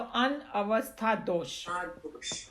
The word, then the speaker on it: अनवस्था दोष: Anavastha dosh. Anavastha dosa. दोष ये द लिखा हुआ है दोसा, बट बेसिकली संस्कृत में अगर हम प्रोनाउंस करेंगे तो अनवस्था दोष.